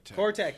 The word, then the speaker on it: Cortec: Cortec. Thank you. I was saying it wrong.